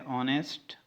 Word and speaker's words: honest: से शुरू होता है लेकिन उसमें जो एच होता है वो साइलेंट होता है. जैसे कि हमारे पास है ऑनेस्ट, ऑनरेबल, एटसेट्रा.